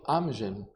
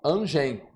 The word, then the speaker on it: Amgen: E aqui, pessoal, a gente tava até brincando antes, tomando um café, que amgem é a forma, é a pronúncia correta. Aqui no Brasil, falei, Cláudio, aqui a gente vai falar angem, que é a M G e N, né?